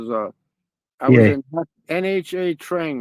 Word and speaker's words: Nha Trang: Spiritual is I was yeah, in NHA Trang, right? It's called the way they pronounce it is Nha Trang, right?